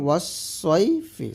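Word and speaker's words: وَالصَّيْفِ: এমনইভাবে ওয়াসসাইফি, এখানে আছে সদ, তো এই সদের জায়গায় আপনি ওয়াসসাইফি সিন পড়তে পারবেন না। তো এই ভুলগুলো কিন্তু আমরা সবাই কম বেশি করে থাকি, এগুলো কমন ভুল। তো অবশ্যই ভুলগুলো করবেন না। আছে এখানে ওয়াসসাইফি, সয়, সদ আছে, সদ ইয়াজবর সয়, ওয়াসসাইফি। আর আমরা পড়ি কি ওয়াসসাইফি, এই ভুলগুলো করা যাবে না।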